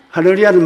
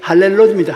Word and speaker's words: 할렐루야: 할렐루야는 말은 참 좋은 말입니다. 하나님께 감사하는 거예요. 우리 할머니는 발음이 안 되니까 할렐로입니다.